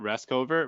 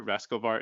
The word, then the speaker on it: Rascovar: I'm wrong rascal bar is last not rest over rascal bar is the correct way to pronounce it yeah yeah that's good uh-huh and